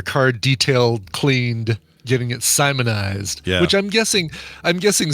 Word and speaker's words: Simoniz: I'm curious Mariam Webster let's see how they pronounce it Simon here we go Simoniz all right Simoniz that's that's what we thought